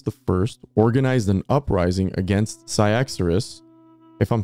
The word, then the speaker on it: Cyaxares: Yeah, it's spelled C-Y-A-X-A-R-E-S. So I'm just saying Cyaxares or Cyaxares, whatever.